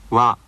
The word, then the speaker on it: わ: さよならわわわ This sound wa is more relaxed than the sound in English words like water, so be careful not to round your lips when pronouncing it.